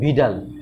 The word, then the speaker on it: Widal: এটা উইডাল না, এটা মানে লেখা হয় হচ্ছিল উইডাল, কিন্তু আসল হচ্ছে এটার টেস্টের নাম আসলে ভিডাল, ঠিক আছে? এখানে ডব্লিউটা ভির মতন উচ্চারণ হবে, ভিডাল টেস্ট।